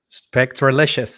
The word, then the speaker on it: Spectralicious: I've applied uh the spectrolicious right I said it right this time right now spectralicious it is there you go can